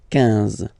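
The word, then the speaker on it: quinze: U doesn't exist, so 15. 15. 15. Alright, IN, nasal, so it's 1. 1. 15. 15.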